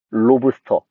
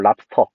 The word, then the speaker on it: 랍스터: 3년 전까지만 해도 얘만 표준 발음이었어. 로브스터. 이거는 좀 일본어의 영향이 있어가지고 그 이렇게 쓰는 놈도 없었고 그래서 이것까지 표준 발음으로 허용. 랍스터. 사실은 랍스타라고 많이 하는데 랍스타는 틀린 거야. 랍스터.